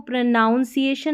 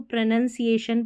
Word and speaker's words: pronunciation: इसको प्रोनाउंसिएशन नहीं बोलना है, इसको प्रोनंसिएशन पढ़ते हैं, ठीक है, प्रोनंसिएशन।